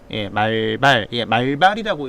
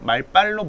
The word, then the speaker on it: 말발: 때때로는 이 단어가 말발이라고 읽으면 조금 곤란하고 말빨로 보통 읽히죠.